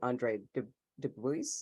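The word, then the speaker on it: Andre Dubus: huge short story reader, although I have read Andre Dubois, is that how you say his name?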